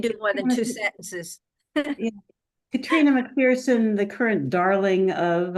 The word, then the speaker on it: Catriona: yeah and it's by katr which is spelled catriona just for your fun Katrina mcferson m c p